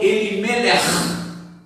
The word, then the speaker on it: Elimelech: Por exemplo, Elimelech é escrito E-L-I-N-E-L-E-C-H. O CH no hebraico, ele tem uma pronúncia na garganta, assim, como se fosse um R de carioca, né? Então, Elimelech, né?